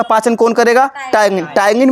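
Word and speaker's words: ptyalin: टायगिन में देखो P word silent होता है, अंग्रेजी में साइलेंट है पी, याद रखना।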